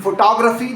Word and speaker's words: photography: In photograph, that middle O is a full clear vowel. In photography, the stress shifts and that same letter O collapses down into a schwah, a quick, almost swallowed a.